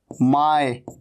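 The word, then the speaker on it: my: मैंने आपको पहले बताया यह क्या है माय इसे माई नहीं कहना माय ऐसे नहीं कहना इसको माई माई नहीं माय और यह क्या है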